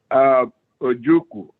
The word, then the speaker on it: Ojuku: Ojuku. Ojuku. The U is silent.